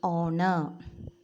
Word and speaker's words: honor: Then next is also honor. It's not honor. Honor, honor, O sound, vowel sound. H is silent here.